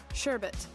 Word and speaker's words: sherbet: ] sherbet that's really how you say it sherbet why did I always think it was sh